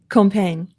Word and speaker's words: Compiègne: Compiègne. It's French, thank so you only say 3 of the letters.